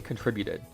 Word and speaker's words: contributed: night because it's obviously contributed but then I realized the reason why I was having such a struggle was because in the word contribution the emphasis is on the other half and that's when I